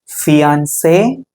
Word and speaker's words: fiancé: Family, parents, mother, father, brother, sister, son, daughter, mom, mom, dad, husband, wife, fiancé, fiancé. நிச்சயமாக்கப்பட்ட ஆண், நிச்சயமாக்கப்பட்ட பெண். So spelling மட்டும்தான் மாறும், pronunciation ஒன்று தான்.